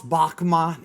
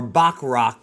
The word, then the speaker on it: Bachrach: Eben Moss Bachma is, or Bachrach, I think is how you pronounce it, is the Thing, Ben